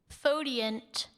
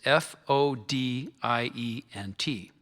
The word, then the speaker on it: fodient: Fodient.